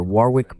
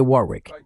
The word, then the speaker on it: Warwick: Los ingleses lo pronuncian con una huevo muda en medio y los estadounidenses tienden a pronunciar la bow explícitamente, lo cual, por supuesto,